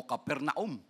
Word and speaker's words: Capernaum: naka ano sabi niya pero mas matindi itong caper neum no o capernaum y right pronunciation because of their unrepentant Hearts Jesus cursed